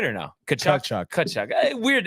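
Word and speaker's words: Tkachuk: I'm gonna go with Kachuk, as in Brady. Did I say it right or no? Kachuk.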